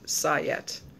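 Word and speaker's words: sajet: si je et and they say it's pronounced sigh yet sayat was very popular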